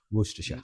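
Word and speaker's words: Worcester: It pronounced as walk what? What? Worster.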